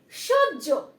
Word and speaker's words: সহ্য: Next হচ্ছে সহ্য। সহ্য, দেখো স হয় জ ফলা, জো, সহ্য। দেখো বানানটা লিখছি, স হয় জ ফলা, জ। হয় জ ফলা দিলে কিন্তু জ হয়ে যায়।